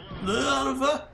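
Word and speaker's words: Löwe: Love. It's pronounced in German. It's not pronounced Lowy. It's pronounced love.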